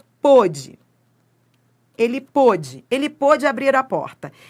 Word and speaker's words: pôde: É a sílaba tônica, tá? Mas o timbre, o timbre ele é aberto ou ele é fechado? Ó, ele pode abrir a porta, o timbre é fechado.